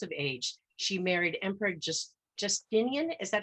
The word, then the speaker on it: Justinian: And through an extraordinary ascent at 28 years of age, she married Emperor Justinian. Is that how you pronounce it, James? Justinian, yes.